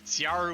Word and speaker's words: Ciaru: And Southpaw on the other side, Ciaru with that soft C.